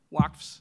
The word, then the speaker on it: waqf: words into your mouth, but when you describe Waqfs, am I pronouncing that right?